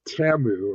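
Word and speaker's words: Temu: or it's pronounced Tamu according to their commercial.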